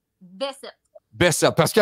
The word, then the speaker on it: Bessette: Comment tu le prononces? Bessette.